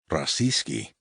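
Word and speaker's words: российский: Russia Roya accent on the second syllable and its cognate adjective Russian rasci as in Russian Federation.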